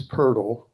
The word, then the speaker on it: Purle: Emily Sailor with Vakuchi and Chase Purle rhymes with turtle who's a savior of gopher tortoises on the Ashton Biological Preserve in Elatcho County loves kestrels and loves helping us.